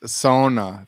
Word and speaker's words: sauna: both or both right i think it's pronounced sona from my finnish friends in the sauna san